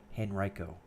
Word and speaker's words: Henrico: fire by the way that is the correct pronunciation of that County Henrico and state and local